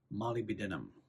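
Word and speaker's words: molybdenum: Molly bedum repair mineral. I don't know if you pronounce the B or not. If you don't, you should pronounce the B in Molly B.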